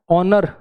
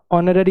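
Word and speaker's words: honour: में H silent है ऑनर ऑनर सब में एच साइलेंट है सब में वोव साउंड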